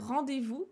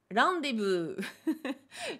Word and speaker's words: rendez-vous: Ça donnerait, eh bien, rendez-vous. Ils ont toujours du mal avec le V, donc le V se transforme en B.